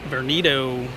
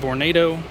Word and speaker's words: Vornado: see this huge vernado born vernito please don't correct me i know it's actually vornado i do that stuff